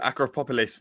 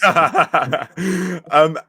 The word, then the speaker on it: Acropolis: And then you moved to Acropolis. Okay, that's really, really bad pronunciation. Acropolis.